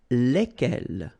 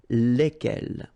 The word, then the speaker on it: lesquels: And it will give you the pronunciation lesquels, all right? So final S is not pronounced.